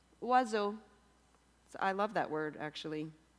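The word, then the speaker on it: oiseau: in French it's pronounced wazo wazo I love that word actually it contains every single vowel it only has two syllables you could say it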